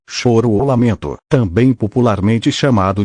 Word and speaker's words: choro: para quem não sabe xoro pronuncia em português ou choro ou lamento também popularmente